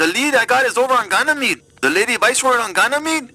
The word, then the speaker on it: Ganymede: Let's go to Granny Mead's and get this over with. It's pronounced Ganymede.